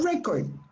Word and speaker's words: record: then you say a record the stress is on the first syllable a record but if